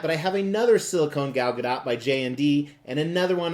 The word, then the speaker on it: Gal Gadot: late night hosts and she said the t is pronounced so I'm gonna trust the person who owns the name a little bit more than a random Youtube comment so I say Gal Gadot however I'm very excited